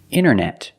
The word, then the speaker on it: internet: Other examples, internet. Internet or internet.